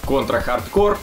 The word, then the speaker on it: Contra: Hard Corps: появившиеся в третьей Контре Контра хардкор да именно так правильно читается это название во всех регионах вышло